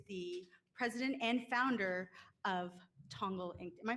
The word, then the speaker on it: Tongal: James DeJulio, who is the president and founder of Tongal Inc. Am I pronouncing that right?